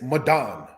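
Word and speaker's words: Medan: Midan, said as Madan, means judgment.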